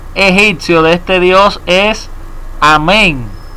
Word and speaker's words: Amén: Entonces, dice aquí que se escribía Imen, pero se pronunciaba Amén, símbolo del poder creador y de la mitología.